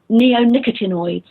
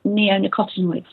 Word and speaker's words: neonicotinoids: of them actually and the group of pesticides are called um neonicotinoids or some people pronounce them neonicotinoids that they are nicotin